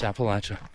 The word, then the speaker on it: Appalachia: You want to say it right. So, it's Appalachia. Fwives.